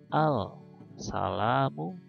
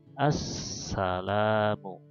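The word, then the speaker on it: السلام: Nah, karena tidak terlihat, maka di sini alif lam ini seperti tidak terbaca. Maka kita membacanya bukan al-salamu, tapi langsung ke sin, ke idgham huruf syamsiyah. Jadi assalamu ya.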